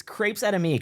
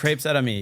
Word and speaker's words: Crepes Et Amis: It's Crepes Out of Me, correct? Crepes Out of Me, yeah.